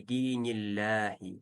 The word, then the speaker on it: دين الله: Фи динилляхи соединяем. И здесь уже лям читаем мягко, потому что перед лям слова Аллах стоит касра. Динилляхи. Афваджа.